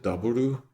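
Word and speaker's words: ダブル: And the way I've pronounced it, Daburu, is usually how they pronounce that letter double W. They don't say the U so much.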